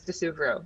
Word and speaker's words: di Suvero: The Italian pronunciation is di Suvero.